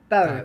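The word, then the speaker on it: Beaux: B E A UX cuz I'm no good at pronouncing things. B. Bow.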